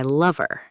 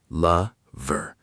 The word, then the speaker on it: lover: He says, Billie Jean is not my lover. Yes, let's talk about word stress. In the word lover, the stress is on the first syllable. La-ver.